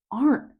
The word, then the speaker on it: aren't: Do you pronounce the T at the end or not? If you want to be really clear, you can stress the T. Isn't. Aren't. But in natural speech, we often swallow that T sound.